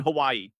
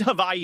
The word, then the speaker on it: Hawaii: It's their first time in Hawaii, a trip they've been talking about for years.